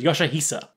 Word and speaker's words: Yoshihisa: that his name was yoshihisa recent findings on KO mark on his own letter preserved in ket so temple confirmed that his real name should be read as Kira Yoshi's Yoshihisa citation needed so if